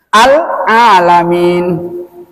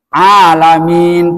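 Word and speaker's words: العالمين: Robbi al-alamin. Alamin, panjang Pak ya. Ini alamin ya matinya nih.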